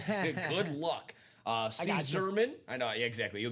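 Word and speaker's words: Yzerman: Steve Zerman. I know. Yeah, exactly. You'll be able to help me on this one. That's Iserman.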